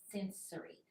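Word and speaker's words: Censori: Bianca sensory and I love her name that's sensory and it's spelled c-e-n-s-o-r-i I love that um Bianca sensory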